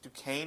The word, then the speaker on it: Duquesne: They lost to, I think it's Duquesne is how you pronounce it, an FCS program in their second game of the season.